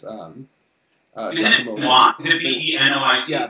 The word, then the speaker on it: Benoit: Is it B-E-N-O-I-T? Yeah, Benoit, yeah.